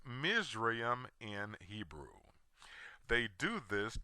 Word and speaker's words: Mizraim: name of Ham's Second Son whose name is pronounced mream in Hebrew they do this to smokescreen the